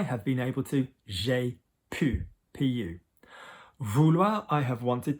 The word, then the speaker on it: pu: Okay, so our first group of irregulars, okay, are verbs which are going to end in the sound U, U.